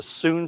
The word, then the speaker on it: Sun: style it's uh s-u-n it's spelled s-u-n it's pronounced s-double o-n soon lutong was the